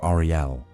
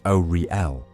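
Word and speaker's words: Auri-El: In those years, the Aldma, first children of Ariel, pronounced Oriel, knew the pulse of time as an almost musical cadence, slow, resonant, and filled with memory.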